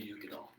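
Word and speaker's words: Uigeadail: So when you look at the word Ugadal, it kind of looks, if you were to pronounce it phonetically, it would be Uigiadale, but it's pronounced Ugadal.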